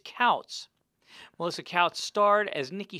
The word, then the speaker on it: Tkautz: is spelled t-k-a-u-t-z but the t is silent so don't say to cows it's couts melissa coutts starred as